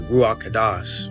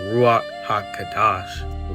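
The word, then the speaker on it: Ruach HaKodesh: And it's actually pronounced as the ruach kadash or in the full term the ruach haka kadash ruok or the ru it means this.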